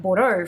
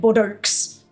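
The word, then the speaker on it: Bordeaux: Au ux right and I knew that that was pronounced o right so like I learned that quite early on So then whenever I see that like bordeau for examp like I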